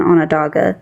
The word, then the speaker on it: Onondaga: of the people that you were very close to pronouncing it right, but there's just two groups under the Haudenosaunee is Oneida and Onondaga is how you say it.